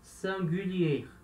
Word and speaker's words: singulier: Singular em francês se escreve assim, se fala singulier, singulier, tá? Que é o som de U, então singulier, singulier, singular.